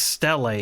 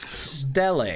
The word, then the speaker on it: Stele: It's pronounced Stele, you guys. Stele.